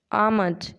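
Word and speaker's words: almonds: बादाम को कहते हैं आट आमज इसमें एल साइलेंट होता है गंम को कहते हैं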